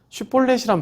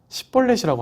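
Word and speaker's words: 쉽볼렛: 슈볼렛이란 발음이 있는데 이거를 쉬 발음을 못해서 시볼렛이라고 하는 거예요.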